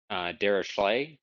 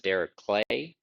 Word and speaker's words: Dirichlet: You oftentimes hear it Dirichlet distribution with like an sh. It turns out I believe that he actually pronounced it Dirichlet, and so I'll try to stick to that.